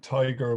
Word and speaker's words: Tadhg: what type yes so to pronounce my name forget about the spelling it's like tiger without the er so it's it's tige but uh yeah there